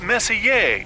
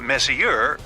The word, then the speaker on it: Messier: well young lady the m stands for Messier pronounce Messier not Messier as in is your room messier than mine